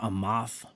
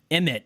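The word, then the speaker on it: אמת: They like to put the Lashawan Kodash name in there, Amath. And Amath is Lashawan Kodash for truth. Emet is actually the standard Hebrew pronunciation.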